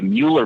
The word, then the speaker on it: Mueller: there's the uh the Mueller master plan in in Austin or Miller it's pronounced differently depending upon who you are and they have these